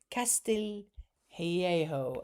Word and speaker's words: Castillo: Dian's surname is pronounced Castillo. Castile Hejo.